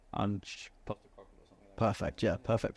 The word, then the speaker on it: Ange: I think he's called Ange. Perfect, yeah, perfect pronunciation.